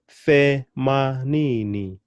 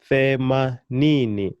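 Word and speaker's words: themanini: Femanini, femanini. And of course, I'm still putting my emphasis on the second to the last syllable, ni.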